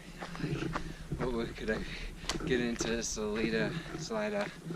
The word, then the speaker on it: Salida: I actually considered, like, what could I get into Salida? They call it Salida. The name of the town is Salida, the way they pronounce it.